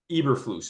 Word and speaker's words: Eberflus: And, you know, another team, you know, we were talking in the leading up to the end of the year, everybody wondered, Eberflus, is that how you say his name?